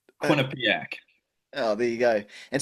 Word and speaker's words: Quinnipiac: Is it Quinnipic? Yeah, that's pretty close. That's I'll give you that. Yeah. Yeah. Nice. How do you say it? Quinnipiac.